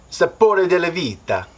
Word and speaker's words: Sapore della Vita: Sapore della vita is the correct pronunciation of that name.